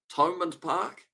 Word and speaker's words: Thomond Park: Thomond Park is how you pronounce it.